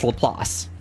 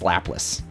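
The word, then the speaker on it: Laplace: I for years I called it lapis. It's lelass, but I knew it as lapless.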